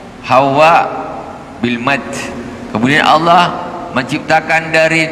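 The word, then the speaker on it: حواء: bisa suami bisa istri Hawa bilmad jadi pengucapan yang betul itu bukan Hawa dia pakai ha ha wau di tasdid ada alif dan hamzah hawa hawa itu yang betul bukan Hawa Adam dan Hawa kan gitu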